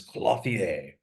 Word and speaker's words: clothier: I've heard people say clothier, but I don't like it. Yeah, I prefer clothier.